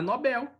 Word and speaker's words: Nobel: São oxítonas, então é Nobel, prêmio Nobel, tá? O Nobel, então Bel, tá certo? Não é Nobel, ok? Se fosse Nobel, como se fosse paroxítona terminada em L, né?